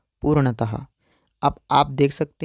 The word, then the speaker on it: पूर्णतः: ऐसे ही पूर्णतः शब्द में जो चिन्ह लगे हुए हैं इसको विसर्ग कहेंगे, और इसका उच्चारण भी आधे ह की तरह किया जाता है जैसे कि पूर्णतः।